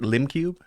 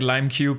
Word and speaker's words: Limcube: Is that how you say it, Limcube? That is how you say it. I get Limecube a lot, but it's just kind